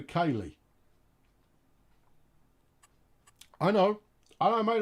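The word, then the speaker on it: Keighley: pronounce the town keithley i pronounce it keithley uh because that's how people pronounce it it should be kaylee i know i don't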